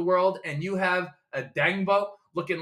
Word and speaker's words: Odeyingbo: I don't know how to pronounce his name. I apologize, but I'm so happy to see Dayo Odeyingbo. Odeyingbo. It's Odeyingbo.